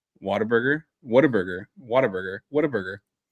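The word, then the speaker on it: Whataburger: So, Waterburg, how do you pronounce it? Say it again. Waterburg. Waterburg. Waterburg. What a burger.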